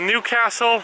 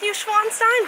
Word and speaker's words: Neuschwanstein: The castle we're going to is called Newcastle. Isn't it Neuschwanstein Castle? All right, I was wrong.